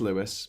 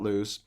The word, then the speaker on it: Lewis: It is Lewis, not Louis.